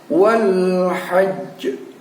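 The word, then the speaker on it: الْحَجّ: Wal hajj. Wal hajj. Ada j yang keluar, itu adalah pantulan dalam posisi dimatikan atau disukunkan karena bertemu dengan tanda wakaf.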